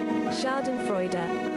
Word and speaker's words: Schadenfreude: How do you spell it? Shortened Schadenfreude. Schadenfreude. Schadenfreude. Experience joy or self-satisfaction that comes from learning of the troubles, failures, pain, and suffering, and humiliation of another. Please pronounce it. Schadenfreude.